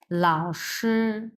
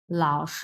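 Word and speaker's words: 老师: মানে কি ছাড় লাও প্রথমটা হচ্ছে তিন নাম্বার টন সো উচ্চারণ ভি শেপ লাও এরকম হবে হ্যাঁ লাও ভি শেপ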